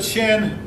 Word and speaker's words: Qin: banks of rivers under the chin and yeah that's spelled q-i-n legalism became the order